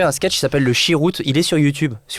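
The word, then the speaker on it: sherut: Chiroute, comme ça se prononce, vous allez tomber dessus.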